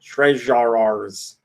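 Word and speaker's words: TreJarers: I guess treasure yeah it's spelled tre jay-ar er that's treasure ours that is coming this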